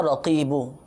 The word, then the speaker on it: رقیب: کے ناظرین، یا رقیبو، لیکن تلفظ اس کا سماعت فرما لیجئے، یا رقیبو، یا رو قوف، اس میں قوف ہے موٹا والا، قوف پھر یا پھر با، یا رقیبو قوف، یا رقیب 3 مرتبہ